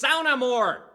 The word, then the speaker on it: Saurnimort: It's Saurnimort! The T is silent, you petulant pissant!